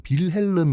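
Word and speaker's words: Wilhelm: 별남 br 아 여러분 빌 헬름 이라는게 독일식 발음으로 1 빌헬름 이고 영어식 발음으로 하면 윌리엄 이거든요 붙은거 4 어이 빌링스 없어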